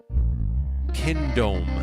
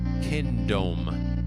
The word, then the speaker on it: Kindohm: Kindome is his name. It's spelled Kindohm. Kindome.